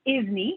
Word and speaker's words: ISNI: and then the isni which we often just pronounce the is knee it's got a little like you know is